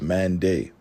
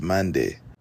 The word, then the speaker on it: Mende: asked who they were, the reply that they received was Mande, but the British pronunciation likely came out as Mandai, hence the pronunciation and spelling today.